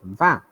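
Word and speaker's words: vingt: pronounced as a ah so 20 is va okay 21 21 so et means and so i'm pronouncing 20 as v i n gt i'm not pronouncing gt but in 21 i'm pronouncing e gt also because of that vowel e fantas 22 vr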